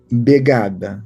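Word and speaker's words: vegada: E a outra palavra begada, né? é escrito com V, mas a pronúncia era assim mesmo, Begada.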